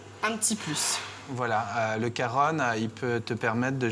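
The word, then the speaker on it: cajón: pour ceux qui découvrent le Caron qui s'écrit comme cajon hein C a j o n et bien c'est un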